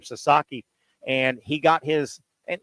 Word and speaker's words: Sasaki: There's another absolute, what MLB thinks is going to be a star pitcher coming out of Japan, Sasaki. I think that's how you pronounce his last name, Sasaki.